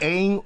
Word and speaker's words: ain't: It ain't over till it's over인데 네. 중간에 있는 A A-I-N-T 발음이 ain't이에요. ain't 할 때 이거.